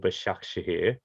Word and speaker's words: Başakşehir: So you took the opportunity to move to Turkey with massive side, Istanbul Başakşehir, which I hope I pronounced pretty good.